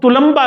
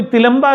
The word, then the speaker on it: तुलंबा: पहले तो मैं अब ये अर्ज कर दूं कि आमतौर पर इसकी प्रोनाउंसिएशन जो इस इलाके की हो रही है, वो कोई तिलंबा कह रहा था, कोई तलंबा कह रहा था, असल लफ्ज़ ये तुलंबा है।